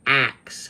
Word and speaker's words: ask: How many people have said, "Boy, what's with all these black people who can't pronounce the word ask? They say axe." That's wrong. Is it? Is it? Is it? It actually goes back to Chaucer and Shakespeare and it's axine and